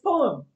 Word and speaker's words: poem: Next is poem. I've heard it being pronounced poem. I was told to pronounce it poem in India, and it's not exactly poem. There is a slight lag, so it's not poem, but it is a longer sound, poem, right?